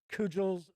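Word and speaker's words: Cugel: the protagonist of Eyes of the Overworld and Cudgel's, or I should say, no, yeah, I think it is Cudgel. That's how it's pronounced.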